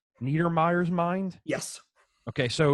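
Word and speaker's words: Neidermeyer's Mind: and how do you say this is it niedermeyer yes niedermeyer's mind yes okay so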